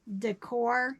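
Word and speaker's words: Daekor: This doesn't have a tag, but I am pretty confident this is Decor. It's spelled D-A-E-K-O-R.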